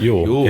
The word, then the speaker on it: Ewell: And so the next one we have here is Andre Ewell, I think it's pronounced. Yep. Ewell.